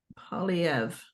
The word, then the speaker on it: Poilievre: Poilievre. The R is silent.